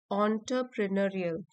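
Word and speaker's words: entrepreneurial: Beyond his ऑन्टरप्रेन्योरियल, यहाँ पे लिखा है इसकी प्रोनाउंसिएशन ऑन्टरप्रेन्योरियल।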